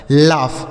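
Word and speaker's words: laugh: Sorry जी एच से घ होता है। लेकिन यहां फ होगा। लाफ मतलब हंसना होता है।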